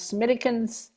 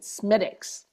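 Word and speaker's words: Smithwick's: Mine My favorite over in Ireland was Smittikens Red. They also have Smittikens Blonde. Smittics. Oh, Frank says you pronounce it Smidix.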